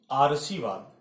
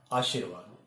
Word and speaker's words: आशीर्वाद: है इसका उच्चारण है आर्शीवाद दो कि यह नहीं हो सकता है उच्चारण भी गलत है वर्तनी व्रत है आर्शीवाद होता नहीं है होता है आशीर्वाद तो यह जो था